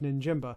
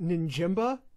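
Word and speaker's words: Njigba: to your boyfriend and go that's jackson smith ninjamba no it's pronounced ninjimba come on what are you the sloopcast mispronouncing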